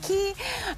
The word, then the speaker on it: Quay: a brand called key looks like it's pronounced Quay it's actually pronounced key this was started in